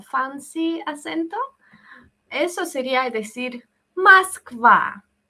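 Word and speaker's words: Москва: la misma broma del nombre de la ciudad Moskva, se escribe con U, ¿verdad? Moskva. Lo normal sería llamarla Moskva, algo A, pero anormal.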